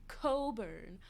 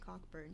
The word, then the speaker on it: Cockburn: It's pronounced Coburn. I thought we'd been through this. I'm pronouncing it Cockburn just because it's funnier.